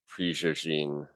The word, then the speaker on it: Prigogine: Belgian with with maybe something mixed in cuz I would have never known to pronounce it Prigogine with an extra with a a bit of a ja.